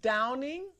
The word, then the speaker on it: Downing: Okay, your name is Downing? Yes, you spell that like Dow, like the Dow Jones, yeah, and N-I-N-G.